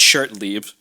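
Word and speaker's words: Shertenlieb: Just for the pronunciation's sake, because we probably have people listening outside of the Boston area. It's Rich Shirtlieb.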